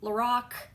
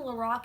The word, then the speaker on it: Lorac: on we have the lorac I mean lorac say it like Lorax you know like I'm The Lorax and I speak for the trees that's not what I